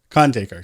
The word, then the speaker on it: Khandaker: real about it like it's the very anglicized pronunciation of my name anyway like how would